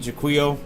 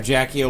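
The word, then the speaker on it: Jaquio: Couldn't beat Juo or Jacko, whatever you want to call him. I I pronounce it Jquo.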